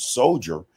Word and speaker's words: soldier: Why is it that d i e r at the end of s so dur dur in soldiers the pronunciation the pronunciation sounds like jury soldier soldiery soldier or